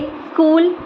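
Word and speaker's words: school: इसका rule number 2 है कि लेटर C के बाद H हमेशा साइलेंट होता है, जैसे स्कूल, scheme, stomach, mechanic, chemistry and chamber.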